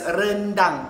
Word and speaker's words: rendang: have my rent and it's pronounced as random random random take it okay I